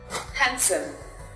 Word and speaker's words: handsome: In some cases, the letter D is not pronounced. For example, handsome, Wednesday.